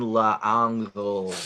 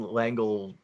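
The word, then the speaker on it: L'Engle: Madeline L'Angle, or however you say her name, That's Yeah. right. That sounds right. with an L apostrophe Engel.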